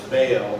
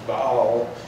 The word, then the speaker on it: Baal: And now we've brought in this whole new religion of the worship of Baal, is I think the more proper way to pronounce it, or we pronounced it Baal, but it's Baal, and this worship of